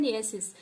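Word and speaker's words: gneiss: देगा और क्या बनाएगा, नेसिस। क्या बनाएगा, जी साइलेंट होता है यहाँ पे, ठीक है। क्या बनाता है, नियसिस।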